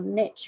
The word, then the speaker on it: niche: and what's your ideal niche or niche depending on how you pronounce it and so if